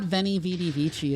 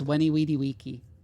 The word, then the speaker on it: Veni Vidi Vici: Yeah, like it's not Veni Vidi Vici, it's Weni Weedy Wiki.